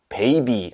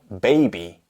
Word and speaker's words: baby: 이건 옵션이 아니라는 거예요 베이비 하면 안 되고요 baby 이렇게 합니다 밀크 안 돼요 단어는